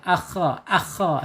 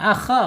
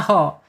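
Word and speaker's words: خ: ada di pangkal lidah, akha. Silakan kalau bisa ya. Tapi untuk membedakan akha, kha dan ha ini harus beda ya. Jangan akha dibaca aho. Ini makhrajnya nanti malah salah ya.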